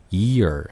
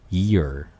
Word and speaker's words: year: 근데 YEAR이라고 하면 앞에 E 발음이 아니라 E 발음이 들어가요. 그래서 Ear 이렇게 됩니다. 그럼 제가 먼저 해보면요. 귀라고 할 때는 Ear. 그 다음에 Y-E-A-R 이라고 할 때는 Ear 이렇게죠.